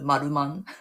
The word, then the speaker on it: Maruman: I know it's the R, but we pronounce it Maruman.